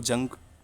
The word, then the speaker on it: Jung: इसका नाम JUNG से शुरू होता है, तो उसको जंग करके भी पढ़ सकते हो आप, मगर इसका सही प्रोनाउंसिएशन क्या है? युंग, UNG पढ़ते हैं इसे बस, युंग, ठीक है।